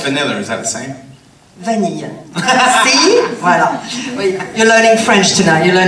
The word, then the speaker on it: vanille: Vanille.